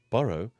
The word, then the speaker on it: borrow: Borrow is said like this with a strong beginning, B-O sound, bo, followed by 2 R's, bor, and ending with a R-O-W, row. Putting that together, it sounds like this.